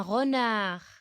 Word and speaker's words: renard: Un renard. La lettre que se ne prononce pas, c'est la lettre Très bien, c'est la lettre D.